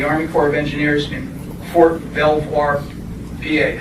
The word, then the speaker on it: Belvoir: During World War II, he served as a tech sergeant in the Army Corps of Engineers in Fort Belvoir, PA. How do you pronounce that? Belvoir? Belvoir, Virginia.